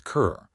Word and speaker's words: cœur: He learned that the French word for heart was cœur, said like a door closing softly.